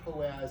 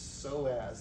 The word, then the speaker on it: psoas: me nuts it's not poets it's so as the p is silent so as muscles their